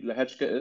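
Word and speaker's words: Lehecka: Way, it's spelled L-E-H-E-C-K-A. Lehechka.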